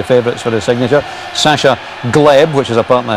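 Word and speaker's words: Hleb: Sasha Gleb, which is apparently how we pronounce it, and he plays some lovely balls with that left foot, doesn't he?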